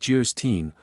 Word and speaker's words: Geierstein: it for sale Anne of geierstein pronounced jerstein or the maiden of